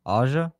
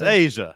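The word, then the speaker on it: A'ja: What' you call her? Aa. It's Asia. There's an apostrophe in there.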